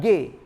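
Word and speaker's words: γῆ: Dalam bahasa Yunaninya itu dari kata ge, ya. Itu artinya earth atau land. Modernnya itu yi, kalau itu pelafalannya aja.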